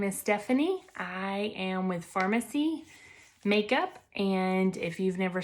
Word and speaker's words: Farmasi: thing this is it this is how you spell it i know it's going to be backwards but it's with an f f-a-r-m-a-s-i so this is pharmacy and i have some